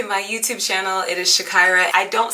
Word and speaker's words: Zshakira: hello welcome to my youtube channel it is Shakira I don't say it enough my name is Shakira people ask me how do you say your name its Shakira and I welcome you to my page if